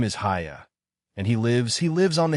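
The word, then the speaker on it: Haigha: His name is Hiya. He pronounced it so as to rhyme with mayor.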